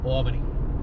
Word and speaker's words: Albany: Hey, Barack, before we land, it's pronounced Albany.